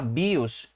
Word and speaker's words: BIOS: Se a gente fosse pronunciar essa palavra em inglês, ela seria BIOS, ok? Mas se você falar BIOS, você vai ser entendido aqui no Brasil.